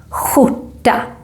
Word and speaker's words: skjorta: And in most part of Stockholm, we pronounce this combination, SKJ, as the Juan sound, or I have something stuck in my throat sound. So remember, it should sound more like skjorta.